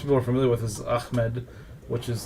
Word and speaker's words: Ahmed: There's, of course, probably what most people are familiar with is Ahmed, which is like the Arab pronunciation. But did you know there's another way to pronounce it that's technically correct? Pakistanis say Ahmed.